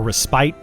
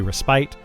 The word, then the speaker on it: respite: Um, or respite, depending on how you want to pronounce that. I say respit. Some people probably say respite.